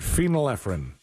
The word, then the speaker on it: phenylephrine: Tammy says phenylephrine. That's how you say it. Phenylephrine.